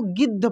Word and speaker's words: गिद्ध: ई की मात्रा और देखिए आधा द और ध है इसको गिद्ध पढ़े इस प्रकार से हम लोग पढ़ रहे हैं कि द का उच्चारण काफी तेजी से हो रहा है क्योंकि आधा है तो आप यहां से सीख सकते हैं कि आधे अक्षर का उच्चारण क्विकली होता है तेजी से होता है दूसरी बात यह है